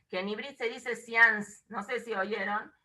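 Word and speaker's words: séance: en Ibrit se dice science, no sé si oyeron. El science viene de una palabra en francés que se escribe seance, S-E-A-N-C-E, que es una onda.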